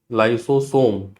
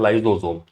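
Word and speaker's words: lysosome: हिंदी में लाइसोसोम, ठीक है। पढ़ने पढ़ने का तरीका, हिंदी में पढ़ोगे तो पढ़ते हैं लाइसोसोम, और इंग्लिश में जब प्रोनाउंसिएट करते हैं तो ये बोलते हैं लाइजोसोम।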